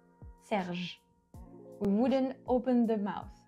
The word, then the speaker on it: Serge: You don't really pronounce the E. So we would say Serge, not Serge. See, Serge. And then we stop at that letter, at the J. Serge.